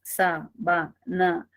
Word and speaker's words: sábana: tengo la palabra sábana e identifico tres sílabas sabana y tengo que la primera la primera es la sílaba tónica y me preguntan esa